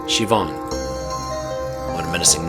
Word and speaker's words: Siobhan: Siobhan? It's pronounced Siobhan.